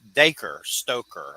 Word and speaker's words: Dacre Stoker: we got daker uh stoker here and that's daker stoker I said it right okay say it over